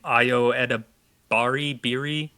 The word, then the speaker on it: Ayo Edebiri: There's also been rumors of, I can't remember how to say her name, Ayo Edebiri, yes, from The Bear, yes, that she's going to be starring in it.